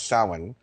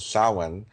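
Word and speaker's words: Samhain: idea of Halloween which is uh known as sin. Um people spell it s a m h a i n but it's pronounced sin.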